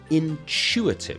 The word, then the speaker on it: intuitive: Intuitive. So the stress is on the chew.